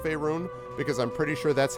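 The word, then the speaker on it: Faerûn: Don't attempt to lay Faerun's woes solely at the feet of mages.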